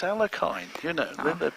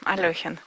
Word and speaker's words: Alekhine: everybody thinks it's Alekhine, Aljechin.